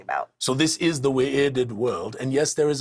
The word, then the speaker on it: Wy'rd: So in this case, it is not the Wy'rd world, it is the Wy'rd world.